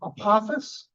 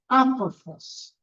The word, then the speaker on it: Apophis: forgotten because I'm Apophis, pronounced by Neil deGrasse Tyson, Apophis. That is incorrect. The Egyptian is Apophis.